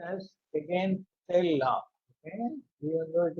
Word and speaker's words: Hagen-Poiseuille: Again, actually it is to be pronounced as Hagen-Poiseuille law.